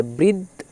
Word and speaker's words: বৃদ্ধ: যাই তাহলে বয় ঋ তো উচ্চারণটা সিম্পল ভাবে বৃ হয়। তার সাথে দ চলে যাচ্ছে। তাহলে বৃদ বৃদ আর ধ নিজে এককভাবে উচ্চারিত হবে। কারণ ধ এর পরে তো আর বর্ণ নেই। তাহলে বৃদ্ধ ধ বৃদ্ধ ওটাই ব এরই দধ বৃদ্ধ।